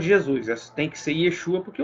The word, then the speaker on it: Yeshua: É Yeshua, seu nome hebraico. Só que aí, como veio no grego, Jesus, então Jesus, como no grego não tem como pronunciar Yeshua, não se pronuncia a palavra Yeshua em grego, então no grego ficou Jesus, né?